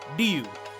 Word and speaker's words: Ryu: Yes, it's Ryu. Hanzo Hasashi is Japanese, his home is Japan, Ryu, it's pronounced Ryu.